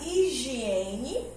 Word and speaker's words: higiene: Pois bem, vimos que higiene e O, ela assume aquela posição de som mudo.